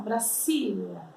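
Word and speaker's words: Brasilia: Gente, como nós pronunciamos o nome Brasília em espanhol? Presta atenção. Brasília. Brasília. Tá? Não existe som de Z em espanhol, por mais que escreva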